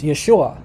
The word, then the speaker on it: Yeshua: languages it's a it's it's like uh it's yeshua where did they get yeshua from if the only word they knew was